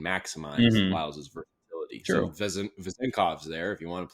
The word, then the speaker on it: Vezenkov: It's Vezenkov.